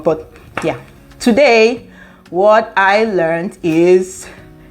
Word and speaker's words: jag: J-A-G is pronounced as yeah. The J is pronounced in English, I think it's pronounced in English as Y, yeah. And the G in J-A-G is silent when you're pronouncing.